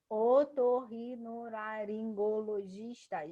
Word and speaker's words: otorrinolaringologista: E aqui, otorrinolaringologista, giz é a mais forte, então é a penúltima.